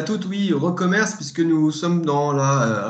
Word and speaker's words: recommerce: La prononciation est bonne, c'est bien recommerce que tu préconises, Benoît? Oui, merci Frédéric. Bonjour à tous et à toutes. Oui, recommerce, puisque nous sommes dans la révolution du commerce.